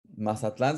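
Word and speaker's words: Mazatlán: Um, Mazatlan's a little bit different because we pronounce the last one as strong.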